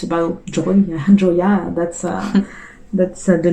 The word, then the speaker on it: Joya: And you opened another restaurant called Joya? Is that how you pronounce it?